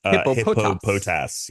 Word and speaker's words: Hippopotas: it's hypop poas oh Tom how would you pronounce that uh hippopotas oh interesting yeah oh interesting I didn't I